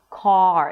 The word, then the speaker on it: car: The mouth opens and in this case because of the R the lips round a bit. C car. And then once you pronounce the vowel let's say 80% of the sound then the last 20% would be the R. Car. It's like going down the steps right car. You can also hear it in the intonation car. So you hear this change far, star, party.